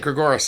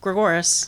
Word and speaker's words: Gregoris: thanks for coming in gregorus that's how you pronounce it yeah like Dolores right gregorus gregorus right yeah um tell